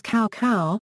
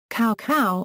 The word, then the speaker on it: Cao Cao: The best example is Cao Cao, who in Dynasty Warriors is pronounced as "cow cow". Cao Cao is now "ts'au ts'au" following traditional Chinese pronunciation.